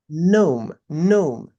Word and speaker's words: gnome: It is pronounced as gnome.